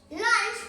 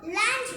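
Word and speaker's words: launch: টি পাই ডে লাঞ্চ লাঞ্চ এল এ ইউ এন সি এইচ আমরা সাধারণত লাঞ্চ বলি এইটা লাঞ্চ হবে না এটা হবে লঞ্চ লঞ্চ এখানে এ আছে কিন্তু এখানে এর উচ্চারণ হবে না এটা ও এর উচ্চারণের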